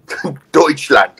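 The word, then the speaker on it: Deutschland: is what's that say douche land yeah silent t deutchland oh my God these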